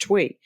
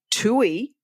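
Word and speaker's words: Thuy: which is uh pronounced twi tui. But if you say tui, it actually means poop.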